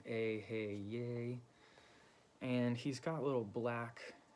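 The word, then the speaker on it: Eheieh: The Yay is, it's bold at the end, so you want to kind of put emphasis on that last syllable.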